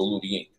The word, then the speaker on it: lutein: So that pathogenic acid comes from portobello, but the lutein, okay, you want to get that from, or spell Lutein, but it's pronounced with a D. The lutein, you want to get